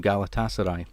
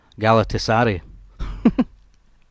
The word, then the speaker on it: Galatasaray: Channel like and um she totally mispronounced like Galatasaray the football team Galatasaray I can't remember how she said it it was like galari galari um I always like